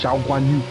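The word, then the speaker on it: Zhou Guanyu: How else are you supposed to pronounce it? Zhao Guan Yu! Don't beat yourself to say an accent. That's not an accent, it's just how it's pronounced.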